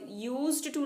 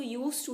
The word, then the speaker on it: used to: देखते हैं यूज टू इसको यूज्ड टू नहीं कह कते इसको यूज टू ही कहते हैं मतलब डी जो है वो साइलेंट होता है ठीक है यूज टू